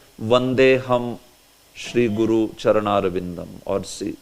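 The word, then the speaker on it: वन्देऽहम्: So it is pronounced as Vandeham instead of Vande Aham.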